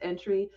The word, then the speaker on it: Antwi: You'll see on the screen there, it's pronounced Entry.